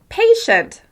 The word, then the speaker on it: patient: In the word patient, I'm emphasizing the first syllable. Patient. Even though you can still hear all the sounds in the second syllable, the first syllable is the clearest and the easiest to understand.